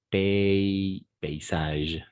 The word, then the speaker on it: paysage: Oui, c'est un peu bizarre, mais on va prononcer paysage, d'accord?